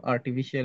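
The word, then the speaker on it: artificial: আর্টিফিশিয়াল, আর্টিফিশিয়াল আমরা আর্টিফিশিয়াল intelligence বলি, বাংলায় লিখিও আর্টিফিশিয়াল ইন্টেলিজেন্স। এটার সঠিক যে প্রনাউন্সিয়েশন বা উচ্চারণটা সেটা হচ্ছে আর্টিফিশিয়াল, আর্টিফিশিয়াল, শব্দ শেষে শল, কোনো শিয়াল নাই।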